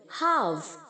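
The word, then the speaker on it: half: हैं आजकल house house यहां पर जो ल है बच्चों वह साइलेंट है हम ल को साउंड नहीं करेंगे हाफ हाफ आधा करना आधा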